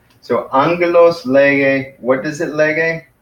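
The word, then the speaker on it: ἄγγελος: Angelos. So you pronounce that as angelos. That's how you pronounce it. Angelos. So the accent is on the first syllable, angelos.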